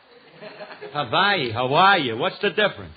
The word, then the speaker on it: Hawaii: Maybe you can get her to go to Hawaii. Hawaii. What's the difference? It's a lot of difference. One is pronounced with a V and the other with a W.